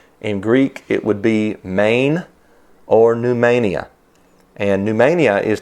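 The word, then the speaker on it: μήν: in the word pneumania it looks like the word men m-e-n but it's pronounced main m-e-i-n or like the state of maine that's the greek word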